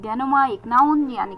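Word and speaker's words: denouement: के लिए बात जो हो रही है वो डेनोमा की हो रही है डी ई एन ओ यू ई एम ई एन टी डेनोमा एक नाउन यानी कि द फाइनल रेजोल्यूशन ऑफ़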